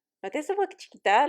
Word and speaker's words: chiquita: It's Chiquita.